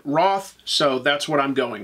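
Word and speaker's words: Wrarth: have to admit that looking at the spelling I thought that it was pronounced wrath or Ware but on the TV show they pronounce it Roth so that's what I'm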